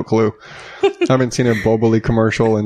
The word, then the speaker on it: Boboli: Bubbly. Those pre-made pizza crusts. I thought it was boboli. Boboli. Boboli. I go with the way the guy pronounced it in the commercial with the fake Italian accent.